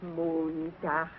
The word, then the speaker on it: Montag: Sonntag, Montag, Dienstag, Mittwoch. That is good. But pronounce the words broader, so Sonntag, Montag, Dienstag, yes?